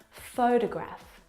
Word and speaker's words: photograph: of these words so in the first example photograph the first syllable is the stressed syllable you can hear it very clearly photograph o fo de Graaff